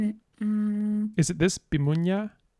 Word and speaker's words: Bimunyaa: It was hard to pronounce. Okay. Can we find it? Where did we name it? Is it this? Bimunyaa? Bimunyaa. Yeah, that's the one. Bimunyaa.